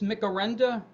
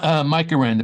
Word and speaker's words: Mike Aranda: Jeff, I'm going to put you in the on deck circle because Jerry, am I pronouncing this Micarenda? It's Mike Aranda, but that's close enough.